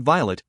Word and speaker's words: Violet: of my grandmother so I pronounce it Violet as in the delicate flower to rhyme said Horus